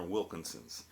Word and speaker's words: Wilkinson: bright pil I'm sorry there's not Wilson they're Wilkinson's Wilkinson's w I know I was pronouncing it wrong w I lan Wilkins Kinsson's that was also a Wilson shaver way back in the day.